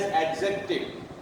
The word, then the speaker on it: adjective: Mostly when D and Z are together, they are pronounced like Z. We pronounce it often as adjective. It is wrong. The right one is adjective, not adjective, adjective. Both D and Z together pronounced as Z, adjective, not adjective. Wrong. Adjective, wrong. Adjective, right, adjective. D is not pronounced here.